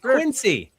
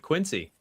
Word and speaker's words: Quincy: Gals is out of Quincy. You know, you you pronounce it Q N Z Y.